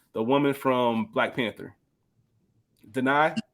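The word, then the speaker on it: Danai: But the woman from Black Panther, Denai, I believe is how you pronounce her first name.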